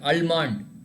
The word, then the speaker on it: almond: In this case, when you pronounce almond, you should not pronounce L. L has to be little silent. Can you pronounce it? Sir, almond. Almond, yeah, almond. L has to be there, but it should be very silent.